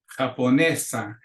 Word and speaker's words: japonesa: But because Japonesa, we add an A to the end, and the accent still comes on the second to the last syllable, which is the rule for vowels, for words that end in vowels. So Japonés with an accent, Japonesa without an accent.